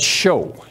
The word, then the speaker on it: shew: Now in the King James, go back there, that word proclaim is said show in the King James Version. It says show. But they misspelled it. It's spelled S-H-E-W.